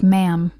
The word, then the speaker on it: ma'am: mocked people who pronounced ma'am wrongly it is supposed to rhyme with Spam not harm the wife of the British